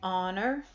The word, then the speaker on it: honor: H says high but there are other times when the H is silent and when H is silent you use an an hour and honor an honest person and